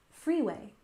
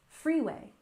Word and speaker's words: freeway: Stress the first syllable, freeway, freeway.